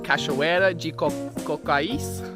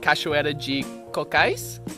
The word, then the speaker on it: Cachoeira de Cocais: are going to find a beautiful waterfall called cachuera cocaise i think that's how you pronounce it i'm in the beautiful state of